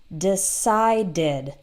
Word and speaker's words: decided: Or decide ends in D, that has 2 syllables, and in the past, decided, decided.